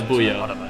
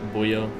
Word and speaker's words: Buemi: Yeah, Buemi. I always say it like that. Like like buoyant, Buemi.